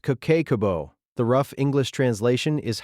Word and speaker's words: Kakeibo: She called it Cakebo, pronounced Kabo.